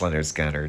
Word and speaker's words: Lynyrd Skynyrd: pronounced Leonard Gunnar.